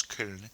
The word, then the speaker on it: Köln: It is a German city, and the German pronunciation for the city is Köln.